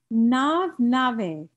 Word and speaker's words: nave: Sí, sí, tres, pronunciation, nave. Nave. Gracias. La B chica es como B, pero no es B, es B. Nave.